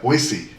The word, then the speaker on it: Boise: been to Boise Idaho they pronouncing that soft s like that Boise I didn't know that I said Boise and it was like